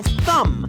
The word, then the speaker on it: thumb: I hurt my thumb yesterday. Yes, you've spelled the word correctly. Note how thumb is spelled t h u m b.